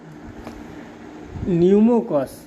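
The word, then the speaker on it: Pneumococcus: हैं क्या है देखिए न्यूमो कस पी साइलेंट हो जाता है न्यूमो कस जीवाणु में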